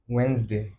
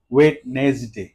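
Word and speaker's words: Wednesday: word second word is ওয়েনসডে ঠিক আছে ওয়েনসডে usually আমরা বলি হচ্ছে অনেকে ওয়েটনেস ডে ওয়েটনেস ডে যেভাবে আছে এভাবেই মনে হয় ওয়েটনেস ডে বাট ইটস ওয়েনসডে ওয়েনেসডে right okay so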